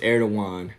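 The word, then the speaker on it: Erdoğan: By the way, Erdogan is pronounced Erdogan.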